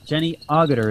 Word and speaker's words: Jenny Agutter: by Jenny Jenny Agutter I'm always afraid I'm mispronouncing her name Jenny Agutter is her name she was in she was